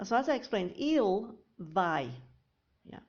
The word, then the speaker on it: vai: Il, so as I explained, il vai. Yeah, we pronounce it vai, not vei. Some people think it's tu vais and il vei, but it's actually tu vais and il vai.